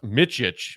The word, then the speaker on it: Micic: I know that his last name is pronounced Micic, M-I-C-I-C.